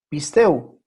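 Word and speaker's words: πιστεύω: Pisteu. Pisteu. Así se pronuncia.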